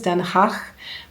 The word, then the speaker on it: Den Haag: I think the Dutch pronunciation is Den Haag.